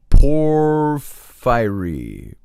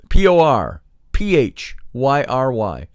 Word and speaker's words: Porphyry: performed by Pythagoras and a legend recorded by poor fiery boy furry so I've got all these names